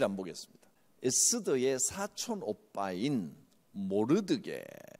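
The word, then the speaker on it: 모르드개: 에스더의 사촌 오빠인 모르드게, 영어 발음으로 적어놨죠. 몰디카이, 한글로 음역하면서 모르드게라고 적은 겁니다.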